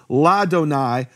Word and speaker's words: Ladonai: Ladonai, silent aleph, so there's no vowel in the aleph when it has the attached preposition.